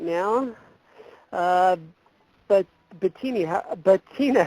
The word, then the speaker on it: Bettina: gonna bring her on right now but Betina Betina how are you doing hi I'm doing great and you pronounced my name just great okay so my